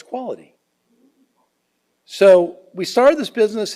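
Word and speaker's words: QUALED: And it's pronounced Qual, E-D, say it fast, and it's quality.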